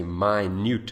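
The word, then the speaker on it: minute: spacecraft this is actually I know you know this word as min but if you pronounce it differently if you say my it means very small so there it is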